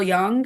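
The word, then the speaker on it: Jung: And on the side, I wrote next to that, Carl Young. Young is spelled J U N G.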